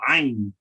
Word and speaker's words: ayn: the language, is the ayn. The ayn. And the ayn is basically constricting the air in your throat and pronunciating the A at the same time, as an ah, but ah.